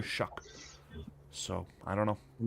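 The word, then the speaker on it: Shough: The way that the broadcasts, by the way, when I say Shuck, that that's how they pronounce it. So, I don't know. I don't understand it. Shaw. No, I know that's how the spelling is, but I've heard Ian Rapaort, Daniel Jeremiah say it's Tyler Shuck.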